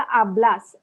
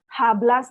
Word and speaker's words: hablas: तभी मैंने बोला आब्लास, आब्लास है ना, हाब्लास नहीं बोला मैंने.